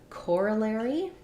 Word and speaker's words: corollary: a look at that so in corollary we have first syllable stress letter O letters o r do say or that sounds like core then we have the reduced uh sound the schwa core uh the letters a